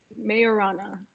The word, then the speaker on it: Majorana: question leave so it is it is called majorana fairviews right i think i i pronounced the correct now little help from uh okay mayorana like the the the j is a why